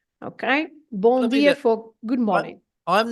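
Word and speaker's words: Bom dia: at the end and this m at the end is not to be pronounced as a m sound as an M sound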